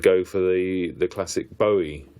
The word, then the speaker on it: Bowie: his life and go for the the classic Bowie name or Bowie as it's often uh mispronounced but I think he loves Bowie now.